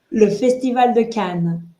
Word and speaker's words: Le Festival de Cannes: Le Festival de Cannes.